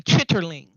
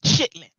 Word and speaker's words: chitterlings: red letters on it, it would say chitterlings. Okay. And black folk would pronounce it chitlins. Yeah, that's what I say. I say chitlins. Chitlins. I thought it was called chitlins. I didn't even know it had a different name. It's actually chitterlings.